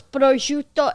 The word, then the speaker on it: prosciutto: first of all, it's prosciutto and mozzarella.